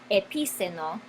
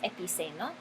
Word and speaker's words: epiceno: tilde sobre la i, porque he escuchado epíceno, pero no creo que sea correcto. Voy a oprimir el botoncito pause y ya. Muy bien, lo siento por la pausa, pero sí, es incorrecto pronunciarlo de otra forma. La palabra es epiceno y estas palabras no